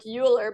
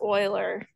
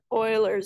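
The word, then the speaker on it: Euler: number e so here does kind of read like uler but it's actually pronounced Oiler Oiler number he a mathematician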